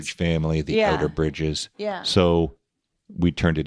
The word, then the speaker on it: Outerbridge: for a word to be fawn aesthetic, it should have 3 syllables, Okay. Okay. and the accents have to be right. You can't have the accent on the end. It can't be Outerbridge, No, that wouldn't work.